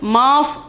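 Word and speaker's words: माफ़: The pronunciation is maaf.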